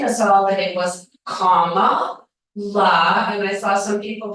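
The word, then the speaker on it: Kamala: even after teaching us all that it was comma LA and I saw some people here with comma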